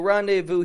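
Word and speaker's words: rendez-vous: and a place to meet you say We'll rendevu here and then we'll head out for our plans you just meet well rendevu here and chat well rendevu here and I'll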